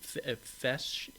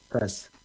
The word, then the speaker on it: Fes: Fesh. Fess. Fess. Yes. How do you how do you spell that?